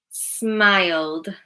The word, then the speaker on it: smiled: Smiled, smiled. It's duh.